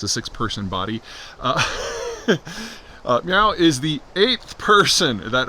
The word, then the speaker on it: Miao: We have had a arrest of General Miao, M-I-A-O, I think that's pronounced Miao.